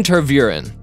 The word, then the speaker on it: Tervuren: Belgian Tervuren. Anything that has a name rhyming with terror is not an indication of anything pleasant.